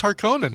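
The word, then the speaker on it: Harkonnen: are saying how was that is it pronounced harkonen or is it harinen cuz I've always been pronouncing it Harkin be amazing no dude it's haran it's yeah you want to piss you want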